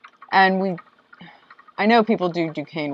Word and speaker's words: Duquesne: And I know people do Duquesne wrong. Duquesne. Well, it's spelled Duquesne. Yeah, it's spelled Duquesne. But it's Duquesne. And then, yes, there is North Versailles.